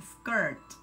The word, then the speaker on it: skirt: La pronunciación es como si no tuviéramos la I, skirt.